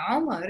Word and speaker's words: Omar: But of course, it's not like he can't pronounce his own name, but that's how it's said in English. So some proper nouns, Yeah. even if they are Arabic in an English speaking country, they become different. It becomes Umar in that case.